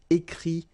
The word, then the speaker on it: écrit: Okay, remember, you put this T, you don't pronounce it. Écrit, dit.